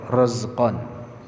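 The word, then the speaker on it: رَزْقًا: Bacanya pakai ra, razqan.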